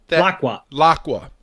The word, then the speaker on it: Laqua: Terapagos wants to go to how do you pronounce that? Laqua.